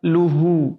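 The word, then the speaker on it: له: Kemudian yang keempat adalah luhu. Itu dummah panjang atau dummah tegak. Itu rawan bunyinya terselewengkan, agak mirip-mirip o. Luhu. Yang benar luhu, dijaga Mura'atul harokat, dijaga harokatnya. Dan yang terakhir adalah pada kata kasab.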